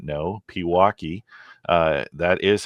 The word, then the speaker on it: Pewaukee: for those of you that may not know Pewaukee uh that is how it is pronounced is west of Milwaukee uh at the